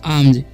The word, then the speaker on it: alms: ALMS है, तो इसे हम आलम्स नहीं पढ़ेंगे, इसे पढ़ेंगे हम आर्म्स, ठीक है। यहाँ पर एल साइलेंट है और एस का उच्चारण ज होता है, ठीक है, तो इसे पढ़ेंगे हम आर्म्स, ठीक है।